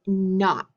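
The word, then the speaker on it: knot: g n and then for k n we're going to use the word not so we'll say not ghost digraph k n and then for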